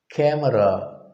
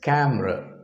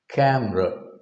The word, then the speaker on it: camera: camera most often it is called as a camera by non-native speakers with taking into account that syllable e also has a separate syllable but more naturally it is pronounced as camera camera look at the look at the inverted e